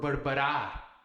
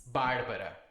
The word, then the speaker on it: Bárbara: You see this, you know it's not bárbara or barbará. It's bárbara.